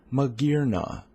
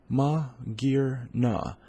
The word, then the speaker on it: Magearna: You are going to learn how to pronounce Magearna. Magearna. Magearna.